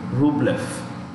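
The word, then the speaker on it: Rublev: sitsi pass defeated andre rublef the v in the end of this this one here is pronounced with an f okay andrea luke left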